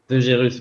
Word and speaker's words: De Gerus: De Gérus, ouais. De Gérus, voilà, j'ai bien prononcé.